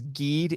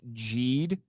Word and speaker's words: Geed: prequel 2017 Ultraman Jade I used to think it was geed it's actually pronounced jeed and Jade is the